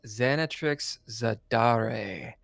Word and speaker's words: Xanatrix Zadare: ] today it's the third episode we got xanat Trix zadar did I pronounce that right xanx you did and if